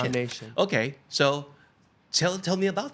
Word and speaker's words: Nam Nation: Is that how you pronounce it? Nam Nation? Nam Nation.